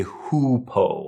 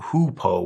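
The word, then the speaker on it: Hou Po: on this one please please do not say who Poe a lot of people uh English speakers at least will see this and they might think it's pronounced like u y o u but it's it's not hupo we actually have a different substance called hoopo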